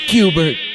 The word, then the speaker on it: Schubert: It's pronounced Cubert.